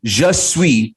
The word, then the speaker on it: je suis: so just sweet is how you say i am in french just sweet you